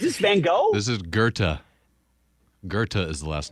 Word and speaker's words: Goethe: You don't pronounce the TH.